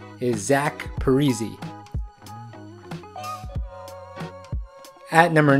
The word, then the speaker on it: Zach Parise: When he first started in the NHL, everyone called him Zach Parise. The NHL pronunciation guide actually still says this, however, today the correct pronunciation is Zach Parise.